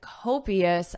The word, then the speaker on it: copious: Beethoven drank copious amounts of wine. Listen to the pronunciation. Copious, so not. Cop is Co Copious, copious, copious.